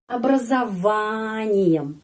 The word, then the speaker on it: образованием: Terus, с каким образованием? Образованием. Penekanannya di sini. Huruf O ini dibaca A.